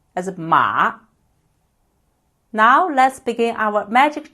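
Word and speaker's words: 马: This is a character for horse and it is pronounced as ma.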